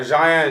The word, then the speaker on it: Jian: This week on Moon with Louie, we got Jian and Jay. Make sure you tap in and stay tuned. So I said it right? Yeah, Jian and Jay, you got it.